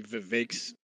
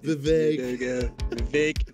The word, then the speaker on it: Vivek: Trump should be Vivek's VP.